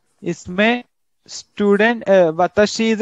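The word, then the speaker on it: は: इसमें student वताशी इज a subject, so subject को हम ये पार्टिकल जोड़ देंगे विच इज रिटन डाउन हा, बट द प्रोनाउंसिएशन इज वा।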